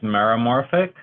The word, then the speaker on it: meromorphic: right here which is meromorphic so it sounds kind of like Cola morphic I mean I guess maybe you might consider that it rhymes okay so meromorphic means